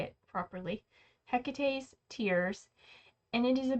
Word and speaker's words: Hecate: Hecate's Tears.